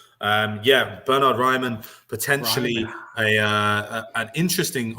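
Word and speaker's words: Bernhard Raimann: try this one too bernhard raymond not bad not bad for for a german pronunciation not terrible um yeah bernard ryman potentially a uh an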